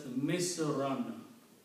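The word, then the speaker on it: مِصْرًا: When you combine the two words, so in the sentence it will be pronounced as Misran.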